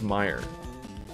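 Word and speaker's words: Meijer: Oh, Meyer. It's pronounced Meyer.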